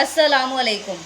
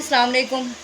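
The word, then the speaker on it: السلام عليكم: अस्सलाम वालेकुम शब्द है लेकिन बहुत से बहुत कम लोग होंगे जो इसको सही तरीके से प्रोनाउंस करते होंगे अस्सलाम वालेकुम अस्सलाम वालेकुम का मतलब होता है की आप पर सलामती हो और कुछ लोग कहते हैं सलाम वालेकुम तो उसका मतलब बन जाता है की आप मा जाएंगे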